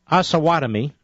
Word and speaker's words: Osawatomie: So here he is in Kansas, Osawatomie. I know that's how you pronounce it because somebody told me.